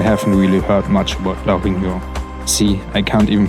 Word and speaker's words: La Réunion: So before this trip, I haven't really heard much about La Réunion. See, I can't even pronounce it correctly. John, please help me out with this one. La Réunion?